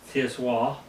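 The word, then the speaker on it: tsiwwah: Tiswa, Tiswah, T-S-I-W-A-H, is how you pronounce this, Tiswa.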